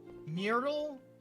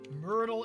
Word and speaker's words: Myrtle: Uh, Murrtle is said like turtle. Oh, Myrtle. Myrtle is said like turtle.